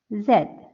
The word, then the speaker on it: Z: g p t v zed zed in British English it is pronounced as Zed but in American English it is pronounced as Z you know there is